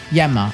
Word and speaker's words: Enma: Yenma. I'm going to say Enma because that's how they say it in Japanese.